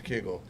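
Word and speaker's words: Kegel: It is Keigle. I thought it was a mispronunciation of keigle or kougal, which is that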